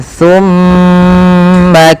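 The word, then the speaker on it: ثُمَّ: Pakai sa bukan pakai sin. Bagaimana sa itu? Sa adalah ujung lidah kita nempel dengan gigi seri sambil agak digigit dikit ya. Tumma tumma tumma. Maka sambil ditahan mimnya. Tsumma kalla say'lamun.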